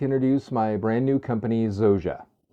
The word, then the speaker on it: Zorza: My name is and I would like to introduce my brand new company, Zoa, not Zorza. Zoa.